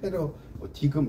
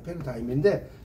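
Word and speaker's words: paradigm: 준거의 틀이라고 하고요이지가 무음입니다 패러다임이지가 발음이 안 돼요이 패러 디금 이렇게 하는게 아니라 패러다임인 패러다임의 전환이다 이런 말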